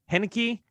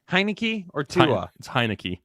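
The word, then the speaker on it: Heinicke: point passing td league henneke heineke it's heineken just think about just thinking about like you're a fan of the hiney you know a hiney heineke that's how you can remember how to say it honey key decent one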